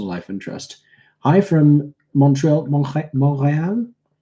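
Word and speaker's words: Montréal: Hi from Montreal. Butchered that. I don't know. Well, in French, you wouldn't pronounce the T.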